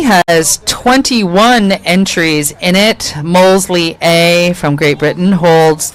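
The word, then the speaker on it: Molesey: Molesley is how you pronounce that.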